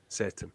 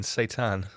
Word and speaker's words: Seitan: I pointed this out numerous times, obviously, but it's spelled Seitan, Satan. Oh, like the Islamic spelling, Satan.